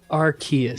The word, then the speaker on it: Arceus: How do you pronounce the name of the Pokemon of creation? Oh. Arceus.